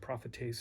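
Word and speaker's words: προφήτης: Prophetes sound like prophet.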